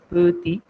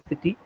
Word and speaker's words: petit: not the vowels, but the consonants at the end remain silent. It is never pronounced. For example, T is Petty. silent. Yeah, petit, petit.